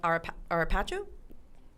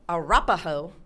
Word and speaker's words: Arapaho: Even though on the website of this still popular hotel, the Utes and the Arao, did I say it right this time? Arap Arapjo Arapaho. Yes, the Ute and the Arapaho tribes did call this area home.